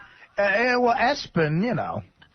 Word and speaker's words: ESPN: They It's spelled ESPN, but they calling the kid Espen.